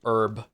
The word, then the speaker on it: herb: The only one that makes me mad is um is herb. I really dislike it when people say herb. It's I I don't understand why people do that.